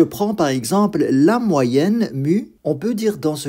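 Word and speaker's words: μ: de notre variable aléatoire cette lettre ça se prononce mue il s'agit de notre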